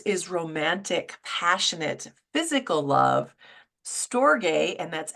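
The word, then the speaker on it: storge: friends um Aeros is romantic passionate physical love stor and that's s t o r GE but it's pronounced stor that's that family love that we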